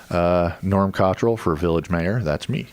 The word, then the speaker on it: Cottrill: Cottrill.